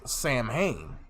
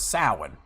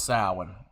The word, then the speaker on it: Samhain: He reads it as Samhain, the Day of the Dead. The word, in its spelling, sounds like it's pronounced as Samhain. It's actually pronounced as Samhain.